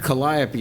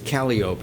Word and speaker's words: Calliope: Well, and all the things that we don't pronounce properly, like Calliope is Calliope if you live in New Orleans.